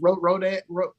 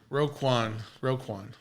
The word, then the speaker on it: Roquan: Roquan. No. The guy almost left. Is it not Rodan? Anyways, moving on. It's not Rodan.